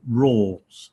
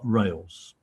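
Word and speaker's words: râles: chord this as well RAL es this is pronounced rules not rails okay and these are again non-musical seen on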